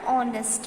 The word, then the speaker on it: honest: Gopal is an honest man.